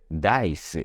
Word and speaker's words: dice: 자 그래서 합쳐지면 다이스 다이스 이렇게 다루고 물론 영업 발음 규칙대로 단어 끝에 있는이이는 다른 되지 않죠 그래서 다이스 다이스 이렇게 발음해 주시면 돼요 깍둑썰기를 하다 무 닭을